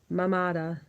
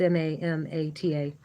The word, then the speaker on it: Mamata: Feeling of mindness, Mamada. Mamada. There is no two M's, there's just one M. It's Mamata. Sorry.